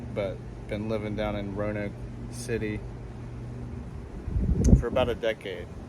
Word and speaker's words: Roanoke: It's pronounced Roanoke, but all out of town performers pronounce it Roanoke.